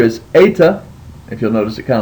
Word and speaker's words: eta: It is a vowel, and it's the letter eta. And it sounds like the E in obey. So anytime you see the letter eta, you know that it's going to make an A sound, like a long A sound. So with the alpha you have a, with the epsilon you have e, with the eta you have the A sound, and as in obey.